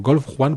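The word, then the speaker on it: Golfe-Juan: Bueno, Golf Juan, porque ellos guardan como es esta cosa del sur de Francia, esta cosa que tú hablas del Nizardo, el Mentoné y todas estas cosas, ellos todavía pronuncian el Juan.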